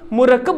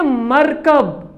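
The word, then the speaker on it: مرکب: मुरक्कब लफ्ज़, यानी दो लफ्ज़ों का बना हुआ एक लफ्ज़ मुरक्कब लफ्ज़ है। अब टेलीविजन क्या है? ये मुरक्कब लफ्ज़, कवायद के रूप से ये मुरक्कब लफ्ज़ है। बच्चों एक है मरकब, प्रोनाउंसिएशन अलग अलग है, तलफ़ुज़ अलग अलग है।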